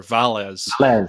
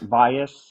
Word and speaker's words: Valles: and and tell everyone how to actually pronounce your name well I pronounce it Vias I guess if I mean if you said the name in English or Americanized it it would be valz the only person that says it correctly is the gentleman um from